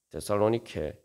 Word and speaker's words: 데살로니케: 이 카산드로스라는 왕은 이 자기 아내가 바로 우리가 잘 아는 그 알렉산더 대왕의 이복이 이제 자매인 데살로니케의 이름을 붙여서 만든 그런 도시입니다. 그래서 이 데살로니케 원 발음은 데살로니케입니다만 이게 이제 바로 데살리의 승리라는 말이에요.